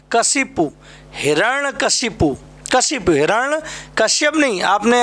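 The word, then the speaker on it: हिरण्यकशिपु: ये बेटा वर्ड जो है कहीं ना कहीं एग्जाम में ज़रूर मिलेगा, हिरण्य कश्यप। तो ध्यान रखना है, इसका जो बोलने का प्रोनाउंसिएशन है वो हमें ठीक रखना है। हिरण्य कशिपु बोलना, क्या बोलना?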